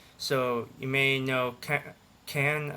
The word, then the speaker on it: Cannes: That's when he left the academy at Cannes. So you may know Cannes, I believe is how you say it, as the French Film Festival.